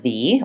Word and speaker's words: the: the the pronunciation are when the next word starts with a vowel sound for example the email sounds like thee or the airport although